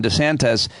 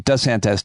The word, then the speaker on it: DeSantis: went off on Ron DeSantis for changing his name, at least how he pronounces his name, from DeSantis to DeSantis.